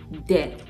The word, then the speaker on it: debt: And then this word, debt, right? Debt. Nigeria's debt profile keeps rising on a daily basis. So not debt, debtor. Not debtor. Ah. Don't say debtor.